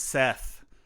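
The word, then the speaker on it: Szeth: Samson writes uh is Seth and it's funny his name is Seth but he has a z it's spelled s z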